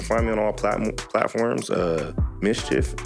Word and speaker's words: Mischif: Mischief, it's MISCHIF, no E, Mischief, say it right.